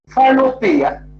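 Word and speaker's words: phanopoeia: The first one is called phanopia. This is number one. Phanopia. I will spell it to you.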